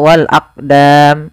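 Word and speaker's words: والأقدام: huruf qf yang disukunkan maka ketika ada huruf qf atau yang semisalnya yaitu huruf Qalqalah maka cara membacanya yaitu kita memantulkan huruf qnya yaitu kita pantulkan Maaf kesalahan yang terjadi sama sebagaimana tadi lafal mujrimun yaitu dia apa namanya tidak ee apa tidak mantur contoh Wal aqdam itu salah yang kedua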